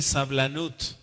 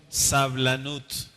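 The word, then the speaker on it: סבלנות: de hoy es paciencia en hebreo se dice sablanut Cómo se dice sablanut con bl sablanut vamos a explicar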